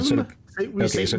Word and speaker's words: psalm: Okay, psalm? We say Psalm. Okay, so the P is silent, likely.